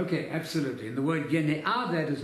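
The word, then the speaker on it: γενεά: Yene'ah is the word. It doesn't mean race. That's yenos. Just spell that. Doesn't race. Genea.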